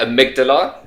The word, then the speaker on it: amygdala: I like to call her Amy G. Amy G. Amy G. So you never forget, amygdala is Amy G.